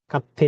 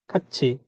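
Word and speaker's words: 같이: কাচ্ছি না হয় এটার উচ্চারণ খাচ্ছি, চিকেন খাচ্ছি, খাচ্ছি মানে একসাথে।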